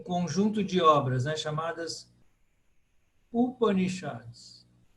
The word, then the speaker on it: Upanishad: de obras, né, chamadas Upanishads. Aí a quarta, de trás para frente, que é acentuada, porque todas aí são breves. Então, quando todas são breves, aí vou lá para o final. Upanishad. Upanishad.